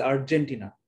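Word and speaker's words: Argentina: নট আর্জেন্টিনা, this is আর্জেন্টিনা। আর্জেন্টিনার ক্ষেত্রে জ উচ্চারণ হবে বর্গীয় জ, কিন্তু যখন ব্রাজিল উচ্চারণ করবেন, ট্রাপিজিয়াম উচ্চারণ করবেন, তখন উচ্চারণটা হবে জি, জ, জেড এর মতো।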